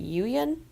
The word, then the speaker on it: Yuyan: While returning to his friends, he is attacked and captured by the, and correct me on the pronunciation, is it Yuyan archers?